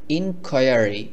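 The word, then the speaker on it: inquiry: মানে হলো উদ্ভাবন উদ্ভাবন ইনকুরি ইনকুরি মানে হলো অনুসন্ধান এখানে আরো একটি গুরুত্বপূর্ণ বিষয় সেটি হলো এই শব্দটিকে আমরা এভাবেও বলতে পারি ইনকোয়ারি ইনকোয়ারি এভাবেও বলা যায় তবে গুগল ট্রান্সলেট বা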